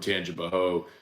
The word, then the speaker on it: Tangipahoa: and then people like, only people who aren't from Tangipahoa say the A. It's really, it's pronounced Tangipahoa, and I'm like, well.